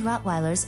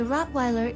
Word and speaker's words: Rottweiler: the fact that trained Rottweilers are gentle number four there are two ways to pronounce the name the Rottweiler is a German breed so if you want to pronounce it the German Way it's Rottweiler of course